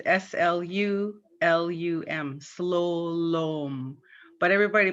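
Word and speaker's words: slulum: The U's are pronounced as O, and it's spelt with two U's, S-L-U-L-U-M, slowlom. But everybody pronounces it slowlum.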